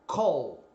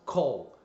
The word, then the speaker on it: call: gente usa o verbo Call em inglês geralmente tem um som de UOL olha só a pronúncia escrita como vai te ajudar então Call não é cal é vaca Então olha só call